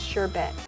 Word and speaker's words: sherbet: I like how it looks like a sherbet ice cream, which apparently is pronounced sherbet, but I'm gonna call it sherbet.